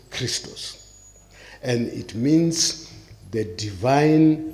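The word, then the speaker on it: Χριστός: XP in Greek is XP and it is pronounced Christos and it means the Divine Light and life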